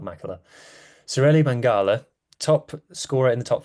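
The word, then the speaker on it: Maqala: I keep I keep calling him ma it's pronounced mangala but it's spelled MAA Celli mangala top scorer in the top 14 playing for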